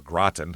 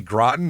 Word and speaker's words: Groton: It's Groten, Massachusetts. So I or Graten, however you want to say it's I know it's Groten, but I don't know